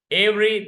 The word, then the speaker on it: every: two syllables you shall every the letter e is not pronounced every letter e or